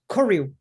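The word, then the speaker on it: koryu: you describe korea i'm am i pronouncing korea it's okay so in japanese it's k-o r-y-u but r-y-u yes view korea yeah yeah something like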